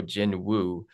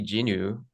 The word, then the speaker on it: Jinwoo: someone looks at that, they might go Jin Woo, but like why, if it's supposed to be Jinu, why is there a W there in the first place?